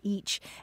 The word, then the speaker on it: ic: word for i was spelled i see and pronounced itch or each and then eventually the